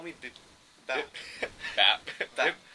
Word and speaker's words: Bap: And then, how do you pronounce it? Call me Bap.